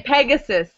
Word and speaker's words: Pegasus: In English, we would say Pegasus.